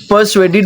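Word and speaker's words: persuaded: पर्सुएडेड में are silent है।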